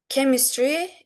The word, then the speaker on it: chemistry: These are pronounced with ch, and chemistry, egg, psychology, character. These are pronounced with k.